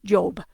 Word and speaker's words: Job: in the biblical character Job, or in English Job, you might say, but Job. But it's pronounced Job. And it really is, even though it's a J, it would be pronounced like an I, and then you would say Job, Job, Job.